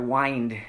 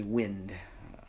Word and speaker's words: wind: singing of capo McConnell the last word whined in there is of course actually wind so but that's the way they pronounce it so it's a you